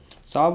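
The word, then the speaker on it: salve: साब होता है इसका प्रोनाउंसिएशन, लेकिन साल और वे को आप इसमें रिलेट करेंगे।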